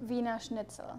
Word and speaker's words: Wiener Schnitzel: Wiener Schnitzel.